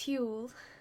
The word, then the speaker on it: Huel: so I actually use Huell that's how I'm choosing to say it like fuel but who to fill